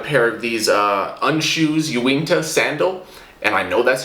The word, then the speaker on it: Uinta: just got a pair of these uh unshoes ewingto sandal and i know that's how you pronounce it i saw someone from unshoes say